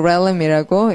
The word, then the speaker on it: realm: 넬름 아니고 렐름이라고 예, 장난치가 아주 진지한 단어예요. 예, RE라는 스펠링이 regulate 거기서 온 말이라서 렐름 아주 좀 진지한 단어입니다.